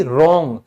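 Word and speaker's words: wrong: Anyway, ये कहता है अगर R से पहले और S के बाद अगर W आएगा तो मैं साइलेंट हो जाऊंगा। जैसे R से पहले S के बाद तो गलत यानी कि रॉन्ग, तो W फिनिश साइलेंट।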